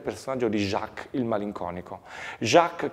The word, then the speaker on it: Jacques: di Jacques il malinconico Jacques che in realtà in un inglese arcaico si pronuncia shaks che sembrerebbe quasi no ricordare il il nome di Shakespeare stesso è un personaggio è